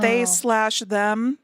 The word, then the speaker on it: They/Them: I didn't know that you were supposed to pronounce the slash until how are you supposed to yeah pronounced they slash them because it's a slasher